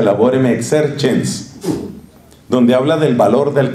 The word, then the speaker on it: Laborem Exercens: se llama Laborem Exercens, con C, y se pronuncia Laborem Exercens, donde habla del valor del trabajo humano.